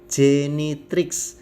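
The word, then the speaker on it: genitrix: biasa Santa they biasa Jenny trik ada C disitu G yang diikuti Edi baca C Jenny trik yang belakang itu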